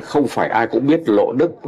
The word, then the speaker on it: Lộ Đức: Tuy nhiên, ngay cả vô số giáo dân không phải ai cũng biết Lộ Đức là cách phát âm Hán Việt của từ luộc.